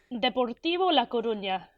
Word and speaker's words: Deportivo La Coruña: Deportivo La Coruña.